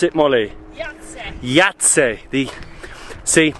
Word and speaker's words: Jajce: never pronounce it Molly yat yat the see we would say ji cuz it it's spelled with a J um but they say why just to be confusing but this Fortress Yeah